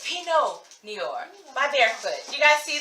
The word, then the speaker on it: Pinot Noir: Okay, so apparently I'm a little under the influence and I pronounced it wrong. It's Pinot Noir by Barefoot.